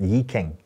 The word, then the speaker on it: I Ching: interested in was the i ching or that's not the in cantonese is pronounced yi king which is the chinese